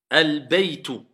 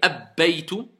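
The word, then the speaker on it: البيت: Alba, Alba, Albayt, Al-baytu. Pourquoi j'ai pas dit abbaytu?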